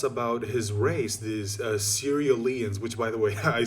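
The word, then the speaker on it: Cerealians: out something else about his race these uh serialians which by the way i saw one of the comments in my earlier videos it turns out that is how it's pronounced it's the serialians that's how you pronounce the the the word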